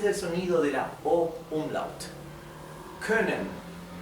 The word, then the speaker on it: können: Ahora la o con diéresis, la o umlout se pronuncia como un sonido intermedio entre una o y una u.